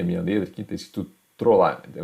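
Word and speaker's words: Trolard: Tá feia a minha letra aqui, está escrito Trollar. Então a gente escreve T-R-O-L-A-R-D. Escreve Trollard, né? Trollard. Mas o que eu costumo ver o pessoal pronunciando é Trollar.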